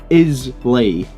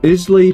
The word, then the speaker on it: Islay: on an island that is spelled I-S-L-A-Y, so it looks like Islay, but it's pronounced Islay, right? So it's an Islay whiskey, right? I'm pretty sure it's pronounced, the S is silent. Islay pronunciation.